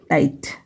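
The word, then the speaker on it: tight: जैसे यहाँ पे देखिए ट, फिर आई जी एच को एक साथ आई पढ़ा जाता है क्योंकि जी एच साइलेंट होता है, और आई को हम आई पढ़ते हैं, फिर टी को ट पढ़ेंगे। तो ये क्या होगा, ट आई ट, टाइट, ठीक है।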